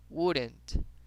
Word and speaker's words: wouldn't: Acá también vemos una L, no la pronunciamos. Diríamos como wouldn't.